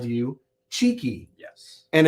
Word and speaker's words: Chiqui: has always called you cheeky yes and it's spelled I wrote this down just for those of you that are looking up his work it's pronounced cheeky like you know cheeky but it's c-h-i-q-u-i and